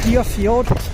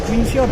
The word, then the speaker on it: Greenfield: I know I've been mispronouncing it. I've been calling it Greenfield. It's actually Greenfield, but now I need to race this train to the other side of the yard.